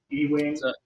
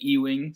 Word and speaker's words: Ewing: um have called me Ewing since the day I started taking calls on my own um it is pronounced Ewing like the letter U actually Wing at the end okay yeah I think